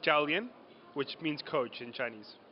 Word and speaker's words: Jiàoliàn: I don't trust myself give us the proper pronunciation in Chinese of the film it's called dalian which means coach in Chinese ok and so